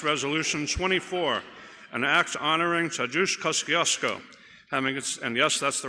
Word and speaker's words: Tadeusz Kosciuszko: The Committee on State, Federal Relations, and Veterans Affairs, to which is referred House Resolution 24, an act honoring Tadeusz Kosciuszko, and yes, that's the right pronunciation.